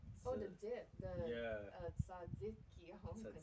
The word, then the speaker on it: tzatziki: tzatziki. I was gonna say Tzatziki? it wrong. Tzatziki.